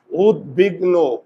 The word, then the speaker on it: উদ্বিগ্ন: এই দন্তস্য তালবস হয় না তাহলে উদ্বিগ্ন এটার উচ্চারণটা কি হবে দেখো তো উদ বিগ নো ওকার হলো কেন দেখো তো উদ্বিগ্ন উদ্বিগ্ন উদ্বিগ্ন নো চোয়াল খোলে না সোয়াল না